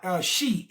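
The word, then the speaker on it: Xi: I swear to God, Shi, X-I. It's spelled X-I, Corlisa, X-I, X-I. Shi-Amuru, okay? That's how you pronounce it, X-I-Amuru.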